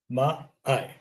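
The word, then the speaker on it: maai: is always pronounced like the A in father. The I is always pronounced like the I in ink. Okay. So put them together. I. Right. Ma, I.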